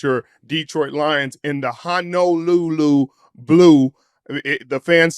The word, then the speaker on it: Honolulu Blue: not worried about your Detroit Lions in the Honolulu Blue. The fans said we are calling it wrong. We're pronouncing it wrong, Mitchell. Not Hana, not Hana, Honolulu Blue.